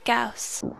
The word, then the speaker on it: Gauss: called carl viastress konacher delta johann carl friedrich gauss reichetti rishati the hilbert space station on bernard